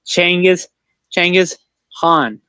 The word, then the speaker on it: Genghis Khan: But it's actually pronounced Changiz Khan. I know people are gonna get upset because how they pronounce it. A lot. Genghis Khan and Changiz Khan. They have both the same word. It's like tomato and tomato. Yep.